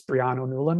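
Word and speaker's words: Brian Ó Nualláin: It's Brian O'Nolan, I think is how it would be pronounced.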